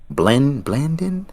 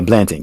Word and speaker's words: Blanton: other unsung hero that was really unsung hero, Blandon. How do you say his name? Basically, our backup tight end. Because when Higby went down, I was like, ugh, like Looks like Blanton. yeah, Blanton, Kendall Blanton.